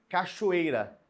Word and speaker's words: cachoeira: exemplos aqui para você a palavra cachoeira cachoeira Olha só o ch aparecendo com aquele som de X você não percebe no sono Lembrando que falando do som não é escrito na escrita é com ch mas o som sai com som de X um só som